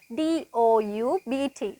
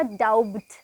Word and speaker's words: doubt: ගොඩක් අය මේක pronounce කරනවා doubt කියලා. හරි? එතකොට හරි pronunciation එක doubt. අර doubt කියලා ගොඩක් අය pronounce කරන්න හේතුව තමයි මෙතන B අකුරක් තියෙන නිසා. නමුත් මතක තියාගන්න මේ doubt කියන වචනේ B අකුර silent letter එකක් කියලා අපි හඳුන්වනවා. ඒ කියන්නේ ඒ අකුර අපි pronounce කරන්නේ නැහැ ඒ වචනේදී. එතකොට doubt කියලා pronounce කරන්නේ doubt, doubt.